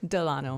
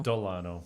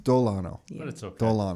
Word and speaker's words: Dolano: A lot of people accidentally spell it with a D-E, then they say Delano, but with the O, it's more Spanish.